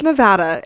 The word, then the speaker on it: Nevada: a shout out to Nevada and that's true and just everyone please it's Nevada Nevada it's very serious and if you say